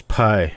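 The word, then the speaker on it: πι: Yeah, it's also Pi Day, 314. That's right. Or if you want to call it in Greek, it would be P Day because the letter is pronounced P, not Pi.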